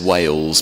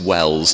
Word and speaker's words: Wells: the Canon Chancellor at Welles Cathedral I have to spell it cuz often people think I've said Wales but it's Wells w l LS in Somerset uh on